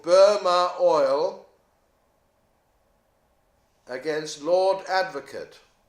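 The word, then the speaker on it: Burmah: There was the most famous case where that was done was a case called Burma Oil against Lord Advocate. Burma Oil, spelt with an H on the end, B-U-R-M-A-H.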